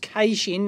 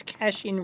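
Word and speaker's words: caching: availability and made geocen yes that's how it's pronounced casing none of this cashing rubbish uh from you Yanks um Sony had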